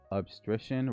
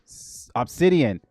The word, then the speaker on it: Obsidian: more token efficient with obstition rather than raw cloud code memory. Uh, that coupled with Jay Dark and Jay Dark Munch and Obstition. I hope I'm saying it right. Obsidian. Obsidian.